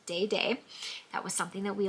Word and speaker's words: Dede: Yes, it is pronounced Dede.